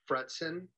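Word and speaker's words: Fretzin: And if you're older than, if you're my age, you also remember certs with Retson. That's how I used to tell people to pronounce my name.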